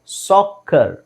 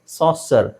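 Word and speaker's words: soccer: ಆರ್ಸಿಂಗ್ ಅಲ್ಲ ಇದು ಅಷ್ಟೇ ಸಾಕರ್ ಸಾಸರ್ ಸೋ ಇಲ್ಲಿ ಸಿ ಇದೆ ಒಂದು ಸಿ ಸೈಲೆಂಟ್ ಆಗುತ್ತೆ ಬಟ್ ಸಿ ಆದಮೇಲೆ ಈ ಬಂದ್ರು ಸಾಸರ್ ಅಂತ ಹೇಳಲ್ಲ ಸಾಕ ಸಾಕ ಇದು ಎರಡು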